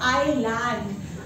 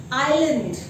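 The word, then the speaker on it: island: इसी तरीके से आइलैंड, आइलैंड कुछ नहीं होता है, सही प्रोनाउंसिएशन आइलैंड का है आइलैंड, ठीक है।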